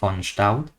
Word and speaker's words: von Staudt: Entiendo que es holandés o alemán, entonces lo pronunciaría como von Staudt.